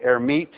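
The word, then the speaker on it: Hermite: for a guy named herit who didn't actually pronounce the h but let's pronounce it so I would call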